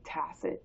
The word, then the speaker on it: tacit: Sounds like tass. T-A-S-S-I-T.